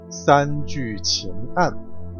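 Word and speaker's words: 三聚氰胺: 三聚氰胺，如果你是第一次听到这个正确的发音的时候，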